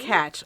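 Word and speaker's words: Takács: Tkach. I had to look up the pronunciation of it because he's an Hungarian director.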